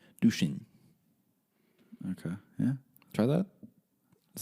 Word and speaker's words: Duchesne: How do you spell it? Duchesne. Duchesne.